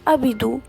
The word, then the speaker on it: apedu: يا ترى هنطقها بالفتحة وأقول مثلا أبدو، ولا بالضمة وأقول أبدو، ولا بالكسرة وأقول أبيدو؟ لذلك استقر الدارسين على نطقها بالكسرة، وذلك للتقريب العملي خاصة للأجانب، فبقينا ننطق كلمات اللغة المصرية القديمة كده، فبالتالي هننطق الكلمة دي ونقول أبيدو. وبكده يكون انتهى فيديو النهاردة من قناة حبة إيجيبتولوجي.